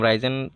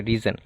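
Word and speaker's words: risen: B three হচ্ছে রিজন তো এটা আমিও নিজে উচ্চারণ করতাম রাইজেন তারপর ডিকশনারি চেক করে দেখলাম এটা সঠিক উচ্চারণ হবে রিজন তারপর হচ্ছে রেজের যে ভার্বের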